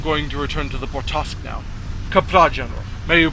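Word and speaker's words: Bortasqu': I had the Bortaskew, because Corin can't pronounce the name of her own damn ship properly. It's Bortask.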